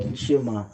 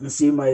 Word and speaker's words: nsima: Not nshima. Nsima is the right way to say it.